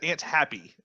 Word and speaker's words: Antiope: at, it's the way it's spelled as Antiope, but in the movie, she kept saying, I thought it was Happy. She said Aunt Happy is the way that she pronounced it.